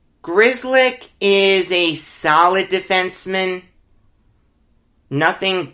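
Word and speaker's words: Grzelcyk: pronounce anything else but i can pronounce grizzlik g-r-z-e-l-c-y-k yeah he pronounces it grizzly grizzlick is a solid defenseman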